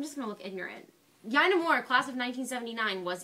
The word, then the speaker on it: Yina: Yina Moore, class of 1979, was elected mayor. It was a very close election, actually. Very close. And her name is pronounced Yina, not Yina, believe it or not.